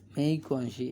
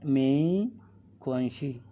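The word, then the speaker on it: 没关系: আছে মেই কোয়ান শি মেই কনসি এটা উচ্চারণের ক্ষেত্রে মানে ইটস ওকে ইটস ওকে কিন্তু এখানে উচ্চারণের ক্ষেত্রে জি টা উচ্চারণ হবে ক এর মত ক আর এক্স টা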